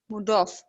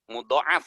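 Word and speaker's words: مضاعف: Boleh memilih dari keduanya bagi fiil-fiil mudhof. Bagi fiil-fiil mudhof, mudhoaf itu dibacanya Ustazah. Mudhoaf ya. Ya, mudhoaf. Oke.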